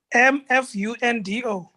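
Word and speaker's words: Mfundo: iphone my name i wonder if you can pronounce it it's fundo empundo m-f-u-n-d-o m-fundo hey adrian you caught it get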